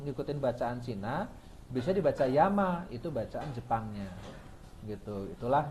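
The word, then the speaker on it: 山: Kanji gunung itu di Cina dibacanya Shang. Ketika kanji syang yang artinya gunung itu masuk ke Jepang, kanji gunung itu dibacanya yama. Sang. Nah, bahasa Jepangnya yama.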